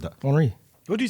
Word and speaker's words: Henry: Henri. What do you say? See, now you say it right. What do you say? Henri. Henry. Yeah, Henri. As long as you don't say Henry, it's fine.